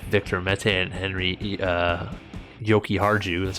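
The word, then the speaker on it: Jokiharju: defensively they have victor mette and henry uh yoki harju that's how you say his name uh their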